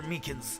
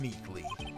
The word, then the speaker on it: Meekins: Actually, Officer Meekins at the detention center told us. Ah, that poor little doggy. Poor guy. I keep getting his name wrong and calling him Meekly.